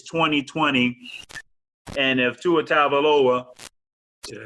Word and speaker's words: Tagovailoa: It's 2020, and if Tua Tagovailoa, did I say it right?